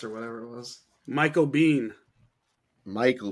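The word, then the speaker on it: Biehn: Michael Bean. Michael B. It's a bean. It is a bean. Sean Bean's So, yeah, dog. But it's spelled wrong. It's B-I like E-H-N.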